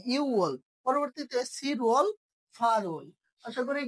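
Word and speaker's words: 유월: নাম্বারে কি ইউ ওয়াল অর্থাৎ আমরা যে ছয়টা শিখছিলাম ইউক সেখান থেকে গ টা কি এখানে আর উচ্চারিত হচ্ছে না এজন্য কি ইউল পরবর্তীতে সিরাল ফারু আশা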